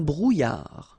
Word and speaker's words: brouillard: Un brouillard. Final D not pronounced.